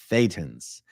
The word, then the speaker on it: Thetan: believe in anything but Thetans. And yes, it is funny that Thetan rhymes with Satan. That Thetan is Satan with a lisp.